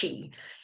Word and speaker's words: qi: It's spelled QI, capital Q, and an I. It's pronounced chi.